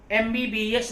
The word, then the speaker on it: MBBS: लेकिन जरा उसको पढ़कर देखिए, एम म हम नहीं पढ़ते, उसको म नहीं पढ़ते, क्या पढ़ते हैं? एम।